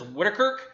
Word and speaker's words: Wittekerke: Kirk this is a this how you pronounce it is wicker it's an authentic belgian